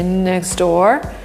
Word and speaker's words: next door: But if we want to sound more American, we'll say next door, where the T disappears and 2 words get linked together.